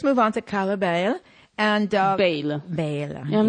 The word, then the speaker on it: Bayle: And Bayle. Yeah, I'm not sure if it's Bayle or Bayle. It's Bayle.